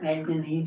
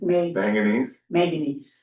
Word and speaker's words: manganese: Are they calling that maganese stuff? How do you say that? Maganese manganese.